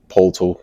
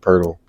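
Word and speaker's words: Poeltl: too um Jacob purle I just learned how to pronounce his man name this year this is crazy I was like Patel or pole I don't I a know how to say his name but Jacob Perle that's crazy um they trying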